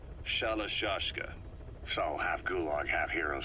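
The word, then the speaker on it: Shalashaska: somewhere along the line, Shashka got stuck on the end of Sharashka. The guerrillas were using the name amongst themselves, and by the time I got to hearing about it, pronunciation had wound up as Shalashashka.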